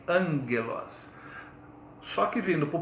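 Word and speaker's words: ἄγγελος: No grego não tem já, jojo. Então esse G aí se pronuncia G, angelos.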